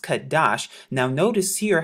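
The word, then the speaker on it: חֹדֶשׁ: strong's and we're here at h2320 now they pronounced it kodesh but in the restored translation it's pronounced kadash now notice here how they say new moon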